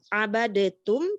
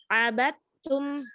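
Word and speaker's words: عَبَدتُّمْ: Jadi bukan abadetum tetapi abatum.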